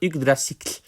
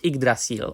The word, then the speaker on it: Yggdrasil: So, for example, Yggdrasil is the pronunciation in Old Norse of the world tree, which English people pronounce Yggdrasil, or Yggdrasil, if you know what I mean.